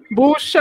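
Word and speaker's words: Bošković: Aí outro dia ele estava ensinando as pronúncias pra gente, e aí ele falou que é Boscovic, bucha, a gente fala busa, é bucha.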